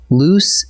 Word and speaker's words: loose: Next comes a pair that trips up even careful writers: loose and lose. Loose, spelled with a double O, rhymes with goose, and it means not tight.